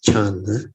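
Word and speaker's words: 禪: So Chan, here the English word is Chan. Chan. Chan is the Mandarin pronunciation for Zen.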